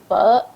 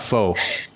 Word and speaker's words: pho: It's not pho for people out there. And it's actually pho. I'm sure I'm not saying it right, but I know it's not faux.